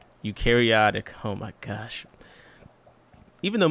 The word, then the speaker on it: eukaryotic: Eukaryotic. Eukaryotic.